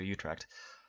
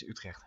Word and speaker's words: Utrecht: go in time to Utrecht. Why did I say it like that? It's Utrecht, duh.